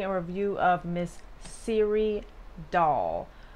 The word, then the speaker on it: Dahl: is the siri doll that's spelled d-a-h-l doll okay cool so before you